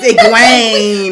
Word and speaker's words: Egwene: I can see the teachers trying to figure out how to pronounce it in class. Egwene. Egwene. It's Egwene.